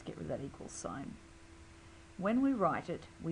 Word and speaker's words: sin: got an abbreviation to we just knock off the E we we bring these down all to threel names it's still pronounced sign you must put in